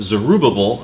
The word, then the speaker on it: Zerubbabel: And that first wave of nearly 50,000 people return under the leadership of Zerubbabel, or Zerubbabel, as I've heard it pronounced as well, and Yeshua, who was the priest.